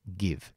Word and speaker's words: give: lo menos en presente Entonces esto es Give Give como si fuera eso es verbo dar no como si fuera s cerrada sin embargo en pasado